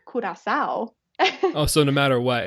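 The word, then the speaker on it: Curaçao: That's really it's a lose-lose actually, because while we say Curacao, when you're there, it's Curacao.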